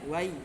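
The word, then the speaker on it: وَيْلٌ: Wai, pakainya hurufnya i, bukan e.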